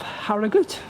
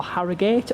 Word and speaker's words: Harrogate: Right then folks, so here we are at the station of Haragut or Harriate or Harriut depending on which how you pronounce it.